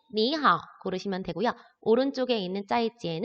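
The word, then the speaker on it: 再见: 발음을 할까요 우리 하하 오른쪽에 있는 것은 짜이 찌 이라고 발음을 하죠 자 만났을 때야 헤어질 때가 아니고 만났을 때 어느 걸 고르면 될까요 왼쪽에 있는 밀러 고르시면 되구요 오른쪽에 있는 짜이찌엔 은 헤어질 때 하는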